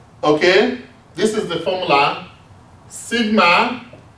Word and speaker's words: sigma: Means it's pronounced as sigma. Pronounced is a Greek letter. Pronounced as sigma.